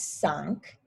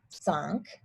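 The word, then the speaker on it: cinq: will just say cuts five is sunk so it kind of sounds like if you're saying sink in like a funny accent so sunk six is wait for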